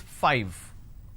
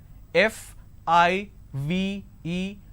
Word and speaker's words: five: a while ago is five all right now the pronunciation is five f i v e five so i need to i need to bite my lower lip to end the word it's five the second one is